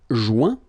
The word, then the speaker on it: joint: Joindre, joint. Rejoindre, rejoint. Okay? Same thing. Final T not pronounced. Joint. So when you get this O-I-N combination of letters, you get the sound ouin.